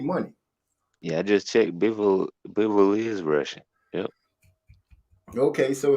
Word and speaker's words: Bivol: It's Bivol.